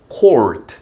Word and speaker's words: court: 그러니까 여러분들 우리 이제 편하게 발음을 코트라고 하는 거죠. 농구 코트, 테니스 코트, 푸드 코트. court. 이게 정확한 발음이고요. 이 court가 원래 뜻은 여기도 나온 것처럼 왕실입니다.